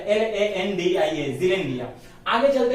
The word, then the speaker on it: Zealandia: रहा हूं, ज़ीलैंडिया, ZEA, आगे यहां देखो मैंने स्पेलिंग लिखा है LANDIA, ज़ीलैंडिया।